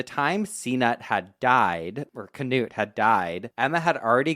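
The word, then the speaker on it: Cnut: His father's name is pronounced Canute, but it's spelled like C N U T and I love to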